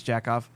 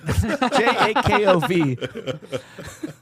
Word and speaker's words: Jakov: So thanks, Jackoff. I'm not that Jakov. JAKOV, guys. I feel like you have not been pronouncing it like it's spelled with a V, Chris.